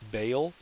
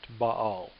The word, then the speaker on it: Baal: By the way, you might have heard this god's name pronounced Baal. Technically, it's actually pronounced Baal, just for your information.